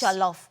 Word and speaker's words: jollof: How do you pronounce it again? Ghana, Ghana. No, I know Ghana, the fry, the, the rice, -- jollof -- rice, jollof rice.